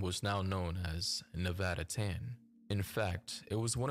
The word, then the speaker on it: tan: Nevada Reno sweatshirts and tan because that's the childlike pronunciation of the Japanese suffix Chan which is often used